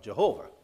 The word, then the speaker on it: Jehovah: have been yahweh but when you put it this way you should pronounce it with the english pronunciation it comes out jehovah okay so the jehovah's